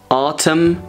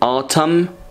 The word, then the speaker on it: autumn: We have spring, summer, autumn, we don't pronounce N, autumn, winter or winter.